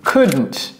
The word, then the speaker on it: could: le nom propre k la prononciation de ce mot ne prononcez pas le l ne dites pas non c'est not OK et la contraction c'est could could vous voyez où